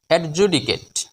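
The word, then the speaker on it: adjudicate: এ টি সেট নয় সি এ টি সি এর উচ্চারণ হবে কে সি এ কে টি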